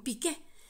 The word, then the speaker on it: Piqué: un un pobre chilito Comparado con pique con acento en la e o sea con Piqué porque parece que pique